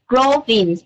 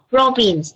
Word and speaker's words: province: When you introduce yourself about the province, you have to say province, the first syllable, not the second syllable. Province, not province, province.